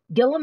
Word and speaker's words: Gillum: it's amanda gillan presents gillum is spelt like william but with a g instead of a w amanda gillum gillum which